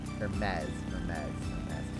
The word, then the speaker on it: Hermes: Hermes. So like, okay, so the H is silent, and the S is more of like a Z sound.